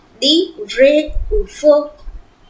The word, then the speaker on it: faux: Then it is faux, F-A-U-X. It is faux and not fox. So pronounce correctly vrai or faux.